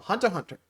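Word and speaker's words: Hunter × Hunter: the hunter exam from Hunter Hunter yeah I know I didn't say it with x's which apparently you don't pronounce who know well anyway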